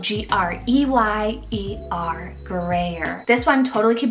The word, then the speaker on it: Greyer: I love Greyer, spelled G-R-E-Y-E-R, Greyer.